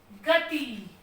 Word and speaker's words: गति: गति, ये सही है। ये हमारा हो गया गति। बड़ी की मात्रा लगने से इसका उच्चारण ऊंचा चला गया तो ये हमारा गलत है और ये हमारा सही है।